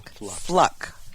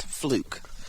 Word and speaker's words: Fluke: Fluck, which is the proper pronunciation of her last name. Fluck, not Fluke.